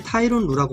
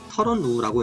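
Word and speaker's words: Tyronn Lue: 그리고 터런 루, 보통 사람들이 타이론 루라고 많이 읽는데 본인이 밝히기로 터런 루라고 읽는다고 했습니다.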